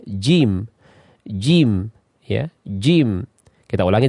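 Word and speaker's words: ج: Jangan sampai kita mengucapkannya seperti ini, jim atau jim, ja ya. Ya, nanti kita akan melihat penjelasan dari huruf jim di pelajaran yang akan datang. Kemudian kita lihat pengucapan yang benar adalah jim.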